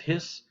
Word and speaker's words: His: then it goes down it's called the bundle of hiss not his his that's